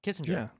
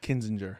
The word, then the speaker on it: Kinzinger: Kissinger. Yeah. Adam Kissinger. Kinzinger. Kissinger Kinzinger. It's Adam Kinzinger. Kinzinger. I think his name is His name is so hard to pronounce. It's not Kissinger.